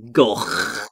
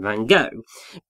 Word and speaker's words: Gogh: Yeah, which is totally fair, because most people do know him as Vincent van Gogh, because that's the mispronunciation that's become popularised.